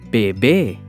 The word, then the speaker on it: bebé: Bebé. Bebé. We stress the second syllable be.